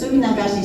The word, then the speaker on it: Suminagashi: than anybody else and without feeling like I mispronounce anything. It's Suminagashi, so if you don't say it right, I will sue you. You want to follow me to say it? Suminagashi.